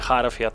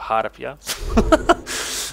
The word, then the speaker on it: harpia: Zniewolona harpia, zwróćcie uwagę na wymowę. Nie harfia, tylko harpia.